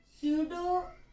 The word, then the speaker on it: pseudo: structure of Katay or pseudo do p is silent, pseudo active electronic confine